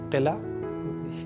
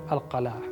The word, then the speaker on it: القلعة: But always remember, never say قلعة. In Arabic, القلعة. This is actual pronunciation.